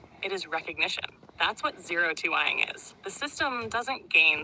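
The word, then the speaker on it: O2ing: Really, 0-2ing, it's 0-2-ing, 0-2ing, right? That's how you pronounce it, 0-2ing, is what Alan Watts did to humans.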